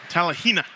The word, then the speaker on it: Talihina: side if your talent and excuse me I pronounce that so wrong go ahead and say it for me Talihina there you go if you were telling Hina